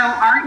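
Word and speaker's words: Eau: and that's a part of ACA International. And so our event is coming up on September 23rd at the O, and it's pronounced O, but it's spelled E-A-U, O Palm Beach.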